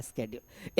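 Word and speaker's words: schedule: तुझे पता नहीं है या साइलेंट है सीए। अब उसको पता नहीं है कि सीए भी बोला जा सकता है स्ेड्यूल।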